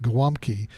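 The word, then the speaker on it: gołąbki: weirder it's gol a B ki and it's pronounced glom key it's basically Polish cabbage rolls which are essentially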